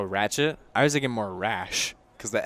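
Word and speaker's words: Raasch: and wretch Oh ratchet I was thinking more rash because the S is silent in his name it's our double-a s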